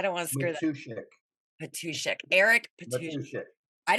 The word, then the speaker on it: Matuschek: Matuschek.